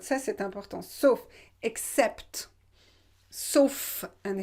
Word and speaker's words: sauf: Donc qui n'existe nulle part, sauf, remember this word, ça c'est important, sauf, except, sauf, and here you pronounce the final F, sauf dans ma planète.